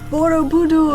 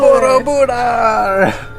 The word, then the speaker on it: Borobudur: Welcome to Borobudur. Borobudur.